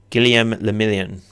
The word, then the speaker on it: Guillaume Le Million: For Revacol, your city, that meant only one thing: Guillaume Le Million. And okay, drama. If it doesn't rhyme, you're not pronouncing it right.